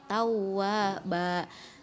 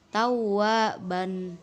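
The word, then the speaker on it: تَوَّابًا: Terakhir, apabila ada fathatain yang berada di akhir kalimat, maka dibaca 2 harokat menjadi tawwaba gitu ya, bukan tawwaban begitu.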